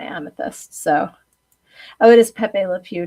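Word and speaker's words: Pepé Le Pew: So, oh, it is Pepe Le Pew, not Pebbles. I just love Pebbles Le Pew.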